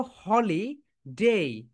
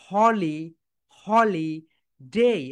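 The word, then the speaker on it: holiday: এরপরে দেখো হলি ডে, আমরা কি বলি হলিডে, কিন্তু রাইট প্রোনাউন্সিয়েশন দেখো হলি, হলি ডে।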